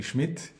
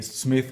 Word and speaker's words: Schmidt: Oliver, German pronunciation of my family name would be Schmidt. A little bit difficult, maybe Smith would be the English version, yes.